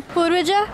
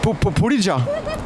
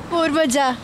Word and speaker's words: Purvaja: Purvaja. Wow! Try pronouncing it. Purija? Purija? Purvaja. Purvaja. Yeah, okay.